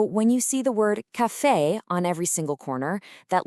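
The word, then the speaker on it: café: So it's cafe. a nice bright open e sound. It is not kafi.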